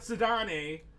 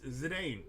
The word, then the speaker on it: Zidane: Not Zidane, like some people seem to think that that's what his name is. Or Zidane, it's Zidane, which is way cooler of a pronunciation of that. I don't care if it's inaccurate, and it's supposed to be like French or whatever.